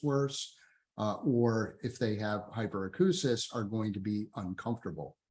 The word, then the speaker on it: hyperacusis: This is pronounced hyperacusis, like the word acoustic.